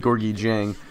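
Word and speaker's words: Gorgui Dieng: And Gorgi Jen, I believe I'm pronouncing that right. Actually, I looked up the pronunciation in a couple different sites and I think I've settled on Gorgi Jen, but he slams it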